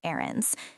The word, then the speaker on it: errands: It starts with an eh sound.